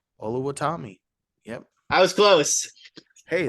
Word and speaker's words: Oluwatimi: It's Olusegun Oluwatimi. Oluwatimi.